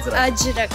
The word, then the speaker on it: अजरक: हाउ डू we pronounce it, इज अजरक और अजरक? अजरक।